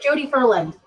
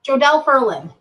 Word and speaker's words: Jodelle Ferland: one actress I'll i can't remember Jodi Jodi Jodi Ferland I am saying her name wrong jodelle ferland she's six ya know ha 5 Willy bye